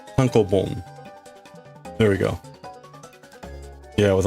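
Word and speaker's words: tankōbon: Tonko boom. Tonko boom.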